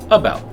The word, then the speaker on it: about: stressed in a word take about it's not AB about or a about or a about it's about and that first vow